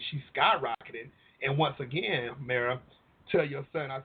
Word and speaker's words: Mara: no worries and also my name is pronounced Mara okay well I'm from the country so I apologize about that that's no no problem at all I'm surprised you didn't say Myra no kind it's too South